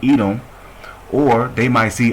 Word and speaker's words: Edom: see adam in there which adawam is how you say edom or they might see